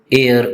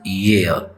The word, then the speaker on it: year: Many people mispronounce it as air, but its correct pronunciation is year.